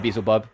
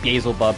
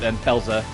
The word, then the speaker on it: Beelzebub: And I am saying Beezle, not Beelzebub, because look at how it's spelled. They spell it B-E-E, as in like Beezle, not Belzer.